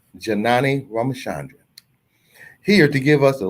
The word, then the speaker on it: Janani Ramachandran: Attorney Janani Ramachandran, Esquire, pronounced Janani Ramachandran, here to give us the latest news affecting